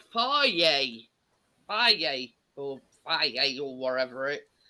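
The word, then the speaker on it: Fage: that looks at it it's spelled f-a-g-e you'd think phage wouldn't you like you did yeah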